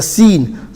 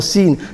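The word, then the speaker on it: س: scene solar sword is sword and the scene are pronounced from the same place the same place where the sword is pronounced seen they have the same mahraj same point of articulation the way the scene and the sword is pronounced is exactly the same the only difference is sword is full mouth and the scene is empty mouth sword and seen are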